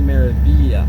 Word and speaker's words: Meraviglia: And it's actually pronounced MSC Meraviglia.